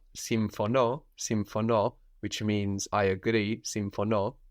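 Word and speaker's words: συμφωνώ: Some other verbs with their accent on the end are symphono, which means I agree, symphono, Symphono.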